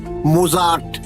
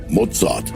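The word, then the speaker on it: Mozart: এই হেডন, মোজাট, ভিটভেন সব বড় বড় সুরকারদের জীবনী রয়েছে। আমি এসব সুরকারদের রচনা শুনিনি বটে। কিন্তু এদের নামের উচ্চারণগুলো অন্তত আমার জানা আছে। কিন্তু আপনার নেই। কিরকম? হাইড, মজাদ, এই হল আসল উচ্চারণ।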